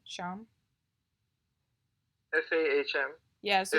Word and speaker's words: SAHM: after getting married, and it's going to be Sham. That's how I pronounce it, right? Sham.